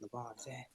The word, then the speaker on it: Lavanzel: You gotta say it like that, Lavanzel.